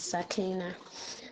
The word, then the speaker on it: Sakina: Oh, I am Sakina actually. The correct pronunciation is Sakina.